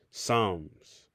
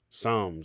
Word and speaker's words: Psalms: all right so when you see that you're pronouncing it Psalms Psalms and that's the correct pronunciation you have here